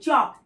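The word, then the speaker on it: chalk: টক এলটা silent আছে সি এইচ এল কে চক এলটা silent আছে তাহলে এই ওয়ার্ডগুলো যখন আমরা লিখব তখন তখন কিন্তু সাইলেন্ট লেটারটা কিন্তু লিখতে হবে।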